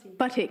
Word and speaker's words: Butty: Harvey, and also Jean-Marc, is it Bouty or? Butty.